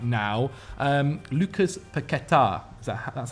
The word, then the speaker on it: Paquetá: Lucas Paquetá. That's how it's pronounced. Paquetá, who's obviously on his way, or looking like he could be on his way, to Manchester City.